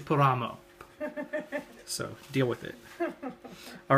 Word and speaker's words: Plamo: Someone was complaining about my pronunciation of Plamo. I said Playmo when I was in a store. Okay. It's actually Plamo.